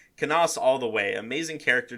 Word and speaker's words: Canas: His name rhymes with heinous, and I will die on this hill. So I guess it would be pronounced Canis, which, I mean, it kind of works.